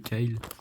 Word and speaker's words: Kailh: Je sais pas si on voit, mais c'est des switches Kyle. Ça s'écrit comme ça, avec K-A-I-H-L.